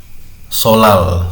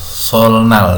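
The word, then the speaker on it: 설날: Solal, solnal dibacanya solal.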